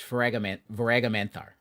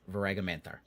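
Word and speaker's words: Voaraghamanthar: It's Varagamanthar. That's how it's pronounced. Varagamanthar.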